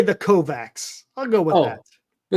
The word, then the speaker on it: Kovacs: Anyway, W Kovacs. Just W Kovacs. Okay. But how's it pronounced? What is the phonetic? Okay, so it is Kovacs.